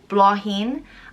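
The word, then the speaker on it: Bláithín: which means little flower it's prince blah heen blahin and it's spelled b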